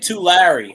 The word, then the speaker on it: Tulare: Tulare. I think you might have mentioned to Mary, but is that in Los Angeles? Oh, that's how you say it. Tulare. Oh, okay. Well, I mispronounced it.